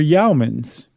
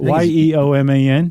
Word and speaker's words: yeoman: in between there were yaumans I think that's how you say it y-e-o-m-a-n Yeoman Yeoman they were